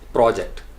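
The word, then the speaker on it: project: फिर होगा आपका प्रोजेक्ट, प्रोजेक्ट, चूँकि नाउन है पहले सिलेबल पे स्ट्रेस किया जाता है, प्रोजेक्ट, प्रोजेक्ट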